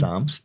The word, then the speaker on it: Psalms: Psalms, it's a silent Psalms. Silent P.